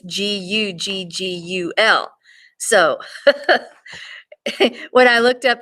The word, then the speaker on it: guggul: It also, which it's also known that bdellium in India is known as Google, only not Google, it's Guggul.